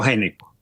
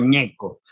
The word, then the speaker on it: Gnecco: Casi siempre en Colombia le dicen Geneco. Ya. En casi todas partes. Pero yo normalmente cuando pongo un pie fuera del país, me dice Ñeco, que la GN, como se escribe, suena a ñ en francés, en italiano.